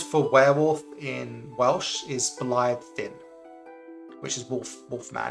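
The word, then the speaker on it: Blaidd: it's spelt like this, because the double D is a TH sound, but if you say it out loud like an Anglophile, it says blade. Blade. And yeah. the Witcher series thinks that's really cool, because it's the word blade, right? So they call him the Blade or something, but it's not blade, it's Blythe.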